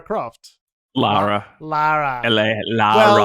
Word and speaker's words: Lara: Laura Croft. Lara. Lara. Lara. Well, she's from the UK, so I'm pretty sure they say Laura. It's spelled Lara. Lara. Lara. Lara. Lara. Everyone say Lara.